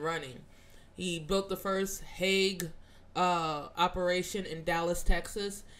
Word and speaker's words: Haag: it wrong i say it wrong it's not hag it's hague and you know why it's called hague it's